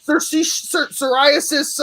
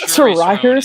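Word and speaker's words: Saoirse Ronan: How do you pronounce psoriasis Ronan? It's Charisse Ronan.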